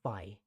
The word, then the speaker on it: phi: Now, for those of you who are unfamiliar, this is the Greek letter phi. It's pronounced phi and it's spelled P-H-I.